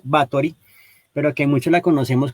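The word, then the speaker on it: Báthory: Que digamos se escribe como Elizabeth Bathory, pero que muchos la conocemos como Elizabeth Bathory.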